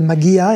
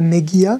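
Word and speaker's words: מגיע: Il dit que tu as bien prononcé magia et pas megia, comme tu as l'habitude, comme les Israéliens.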